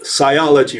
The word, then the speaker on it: sciology: I thought it was sociology and that it was misspelled. No, it's sciology, or sciology, I guess it's pronounced.